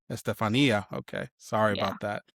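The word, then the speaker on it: Estefanía: And I'm sorry, I butchered your name. It's Estefania, right? Estefania. Estefania.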